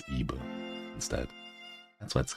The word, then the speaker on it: Ib: don't lose it oh so the name is Eve because it's like Eve e-b-e but it's what the Japanese pronunciation so it's IBU instead and so let's call that way all